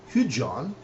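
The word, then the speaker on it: hycgan: Hujan, again, DG.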